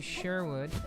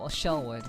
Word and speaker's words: Shellwood: Um we can go to Sherwood. So Shellwood, I keep m mispronouncing that.